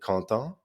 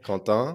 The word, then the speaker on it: Quentin: There they pronounce it Quentin. Correct. Yeah, yeah, Quentin. exactly. Which is also how you say content, like happy, right?